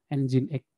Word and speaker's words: nginx: user yang lain ada nginx bacanya bukannya saya baru tahu kalau bacanya itu harusnya Angie next next deh bukan gini unsada Windows